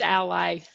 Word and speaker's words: Ally: of works and again ali ali is that how you pronounce it it's ally ally okay it should be